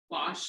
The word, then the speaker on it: gouache: Gouache. Yeah. Wash, I guess.